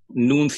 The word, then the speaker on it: Nuun: go ahead yeah you know what check out noon hydration so noon is spelt with to use instead of two O's